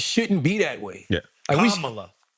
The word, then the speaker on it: Kamala: Kamala. Let's say Vice President Kamala Harris. Emphasis on the first A.